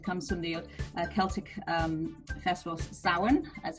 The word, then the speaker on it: Samhain: And it comes from the Celtic festival Samhain, as it's pronounced.